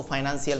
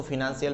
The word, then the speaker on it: financial: बोल सकते हो, आप इसको फाइनेंशियल मैनेजमेंट भी बोलते हो, आप इसको फिनेंशियल मैनेजमेंट भी बोलते हो, देयर आर नो इश्यू। मैं खुद इसको सालों तक फाइनेंशियल मैनेजमेंट बोलता था, लेकिन अब मैंने 2-3 प्रोनाउंसिएशन चेंज किए हैं। उसमें वन ऑफ द एक प्रोनाउंसिएशन इसका आता है, मैं आजकल इसको फिनेंशियल बोलता हूँ।